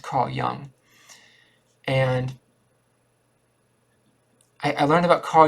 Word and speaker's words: Carl Jung: It's spelled Carl Jung, but it's pronounced Carl Jung.